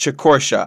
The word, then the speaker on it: Chicortia: Yes, it's pronounced Chicortia. I got it wrong last video.